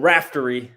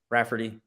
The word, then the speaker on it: Raftery: they played it was the bill RAF bill raftery I always say his name wrong Rafferty raftery Rafferty uh he did his famous onions